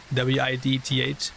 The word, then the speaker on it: width: I feel like that's one of those words that's like kind of hard to pronounce sometimes. W-I-D-T-H. Width. You gotta like pronounce the whole thing.